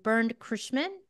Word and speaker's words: Bernd Curschmann: We're going to sit down with Hermann and Bernd Curschmann. Am I pronouncing that right?